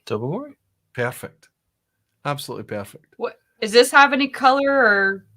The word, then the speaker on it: Tobermory: Tobermory? Tobermory.